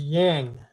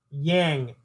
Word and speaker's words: yang: chakra the C sound of this chakra is yang yang Y ang yang and it belongs to the